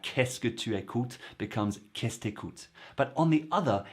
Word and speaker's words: Qu'est-ce que tu écoutes: Well, it's Qu'est-ce t'écoutes? Qu'est-ce t'écoutes?